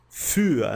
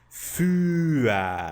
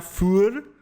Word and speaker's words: für: Für, né? Antes de mais nada, você pronuncia für. Você não lê o U com os dois pontinhos como se fosse um I.